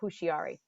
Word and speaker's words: Houshiary: made her home in London, England, most people pronounce her name Hushiari.